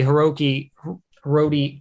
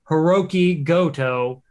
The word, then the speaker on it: Hiroki Goto: and then it'll be hiroki rhodey i can't even pronounce his name right i feel like an absolute doof it is hiroki goto will face uh hiroshi